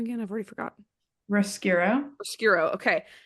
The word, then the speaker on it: Roscuro: Roscuro. Okay. Roscuro, right, lives in darkness, and he has this that's his whole life.